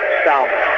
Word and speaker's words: Salmon: to me Kelsey and that's pronounced Sal all right yeah the